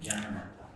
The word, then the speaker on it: Jnanamata: Is that how you pronounce his name? Jnanamata. Yeah, Jnana, like that. You did good.